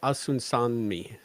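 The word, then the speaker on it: Osunsanmi: Screenplay by Craig Sweeney and directed by Olatunde Asunanami. I like him. We can never say his name right. No, I have to learn it because he's prolific in Star Trek lately, and Olatande Asunsanmi.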